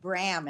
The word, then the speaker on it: Brahm: It's Sharon, Lois and Brahm. Brahm, thank you. Yes, I always forget that. It rhymes with ham.